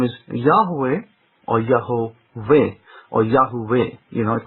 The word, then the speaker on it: Yahweh: But as far as I can tell you, the name is Yahweh or Yahovah or Yahuwah. It could be pronounced Yahuwah as well, but it's more closely Yahweh with the breath breathing out. Yahweh.